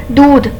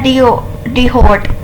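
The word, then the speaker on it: d'hôte: इसको प्रोनाउंसिएशन इसकी जो फ्रेंच में है वो है दूध, मगर जो हम पाकिस्तानी हैं वो हम इसको प्रोनाउंस करते हैं डिहोट, ठीक है।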